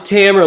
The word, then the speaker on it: Tamer: It's Tamer, like a hammer. Tamer. Tamer. Tamer. Pretend there's, Tamer. pretend there's, Tamer. it's easier if you think of it with two M's.